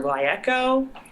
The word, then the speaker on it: GlyEco: Is it pronounced Glyeco or Glyeco? Well, it's Glyeco, and this is basically a marriage of two words, glycol and ecology.